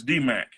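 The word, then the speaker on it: DMAIC: a I see and we can pronounce that as D Mac okay but spell d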